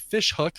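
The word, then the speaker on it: Ghoti Hook: How about a version by a band called Fish Hook, but that fish is spelled Ghoti, and you can look online to figure out why it's pronounced Fish Hook, but it's spelled Goatee Hook.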